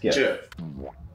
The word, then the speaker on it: GIF: Oh, like GIF and JIF. No, that only has one way of pronouncing it. And the right way to say it is JIF.